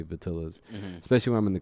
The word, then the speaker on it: Vitillaz: too well if you do the double L Spanish thing, you know, the J thing. People say Vitillaz, you know, it's kind of like, okay. But it comes across a little bit easier and pronounced a little bit easier in English if I just say Vitillaz.